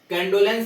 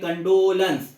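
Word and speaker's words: condolence: कंडोलेंस नहीं होता, कंडोलेंस। यहाँ पे जब ये जो है ना डेप, यहाँ पे डो पे यहाँ पे थोड़ा जोर दिया है, कंडोलेंस। इसका करेक्ट जो प्रोनाउंसिएशन है कंडोलेंस।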